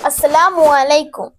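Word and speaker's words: السلام عليكم: সালাম দিয়েছ ঠিক আছে কিন্তু তোমার সালামের উচ্চারণটা ভুল হয়েছে তাহলে উচ্চারণটা কি হবে উচ্চারণটা হবে আসসালামু আলাইকুম বলো আচ্ছা আসসালামু আলাইকুম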